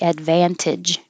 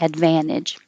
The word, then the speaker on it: advantage: like advan advantage again you can say this with a t advantage or without the t advantage jeopardy jeopardy downloadable downloadable